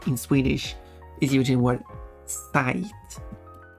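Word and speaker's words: sajt: way another word in Swedish is using word site it's spelled like that it's pronounced site site now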